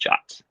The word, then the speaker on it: JWT: excellent point yeah and that JWT is typically pronounced jot and uh like we